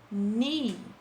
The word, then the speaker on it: knee: Knee, que tem um K na frente, né? Mas a gente não pronuncia o K. A gente só pronuncia o knee, que é joelho.